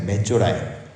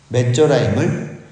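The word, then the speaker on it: מצורעים: 그리고 우리가 읽기에도 비슷한 발음이 있습니다. 나병 환자들은 메조라임입니다. 메조라임. 근데 애굽의 군대는 미즈라임입니다. 메조라임을, 나병의 내병 환자 하찮은 그 메조라임을 미즈라임으로 착각하게 하신 거죠.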